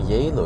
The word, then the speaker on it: Geilo: in yo the name yo is pronounced with a J but G is pronounced